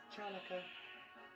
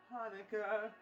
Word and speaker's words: Hanukkah: It's not pronounced Chanukah. The sea is silent in Hanukkah.